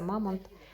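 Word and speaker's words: Mammut: висить бренд мамонт мамонт мамут читається мамант це дорогий бренд такий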